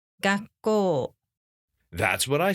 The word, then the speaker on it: 学校: School in Japanese isn't 学校, it's 学校 Quick, how many mora is that? 4. Correct. Even though it is 2 syllables, you should pronounce the word as if there are 4 beats.